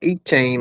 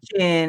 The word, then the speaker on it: Etienne: It's called E-Chain or something like that. We say Travis E-Chain. Etienne, and we have Trevor Etienne.